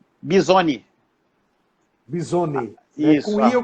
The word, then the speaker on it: Bizoni: Por favor, me ajude para mim não pronunciar errado. É Jorge Bisoni, Bisoni. Bisoni, né?